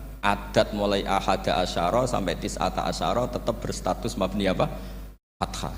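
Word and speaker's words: تِسْعَةَ عَشَرَ: tiata Asaro utawi Solong tetap bacanya bukan tisatu asarin tapi tisata Asaro jadi kita tahu secara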